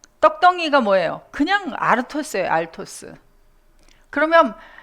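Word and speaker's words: ἄρτος: 그런데 떡이 아니고 이 단어는 아르토스라 그래서 이것을 발음을 그대로 하면 알토스예요. 알토스. 천천히 발음하면 아르토스. 빨리 발음하면 그대로 알토스.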